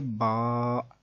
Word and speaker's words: با: کو اگر پڑھیں گے تو وہ بے، تے نہیں بلکہ با، تا، سا ایسے ہوگا۔ تو اس طرح سے